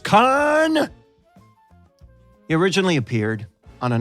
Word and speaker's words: Khan: talking about khan and yes it's pronounced khan he originally appeared on